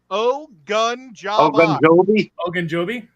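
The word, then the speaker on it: Ogunjobi: you say that see it's a oh gun Joby yeah it's like Ben Obi-Wan Kenobi and obadobe okay why didn't you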